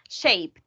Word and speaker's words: shaped: And this word, guys, remember the pronunciation is shaped. No shaped, only one syllable, shaped.